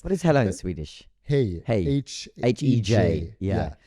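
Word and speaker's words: hej: Hey. H-E-J. Yeah. So it's J-Y. Like pronounced as a y. It sounds like hey.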